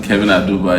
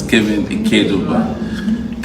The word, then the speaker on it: Kevin Keduba: I didn't know how to pronounce the name until someone Christ. I thought I used to say Kevin Aduba. It's Kevin Keduba.